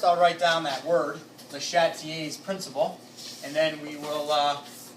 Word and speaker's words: Le Chatelier: I think you're just saying it wrong. It's Le Chatelier, or some people say Le Chatelier, or Le Chatelier. That's how they say it.